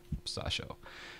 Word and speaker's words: Sasha: that he sounds okay his name is saw show that's right pronunciation I hope Sasha yep perfect Sasha and Sasha oh just